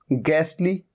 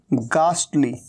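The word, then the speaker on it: ghastly: तो एक तरीका तो इसे प्रोनाउंस करने का ये होता है, और दूसरा होता है गास्टली, गास्टली। तो एक तरीका है गैसली और एक है गास्टली।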